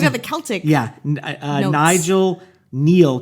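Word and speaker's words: Kneale: looking like you have the Celtic yeah Nigel Neil, K N E A L E.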